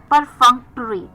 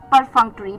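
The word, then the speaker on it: perfunctory: सो एफोवेशन हर एफोवेशन चार एफोवेशन यानी कि एंथूजियास्टिक full of energy clear moving on द 11थ word for the evening is परफंक्टरी।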